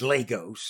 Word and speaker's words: Lagos: to Lagos uh yeah the Nigerians pronounce it Lagos ohos I'm sorry that's all